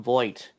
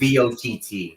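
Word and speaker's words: Vogt: Here's the thing with Stephen Voigt, or whatever his name is, the manager. It's VOTT. That's how it's spelled.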